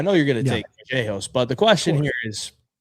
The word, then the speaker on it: Vallejos: This is how he pronounces it, Kevin Vallejos with the B.